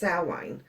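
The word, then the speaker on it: Samhain: you don't know halloween for witches is called salway and it's spelt s-a-m-h-a-n but it is pronounced salwin um i think it's a celtic spelling which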